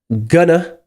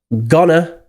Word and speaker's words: going to: Going to, obviously, normally is pronounced as gonna or gonna, and will is normally pronounced in the weak form woo or oo.